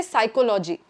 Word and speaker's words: psychology: A good example of this is a lot of Indians might say psychology. Psychology. But here the stress is different. It's psychology. Psychology. It's a co that stress right?